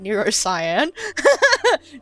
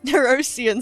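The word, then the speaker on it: Nerosyan: Also, good to know how to say it now, cuz I've been calling it Neurosyan. Neurosian sounds a lot better.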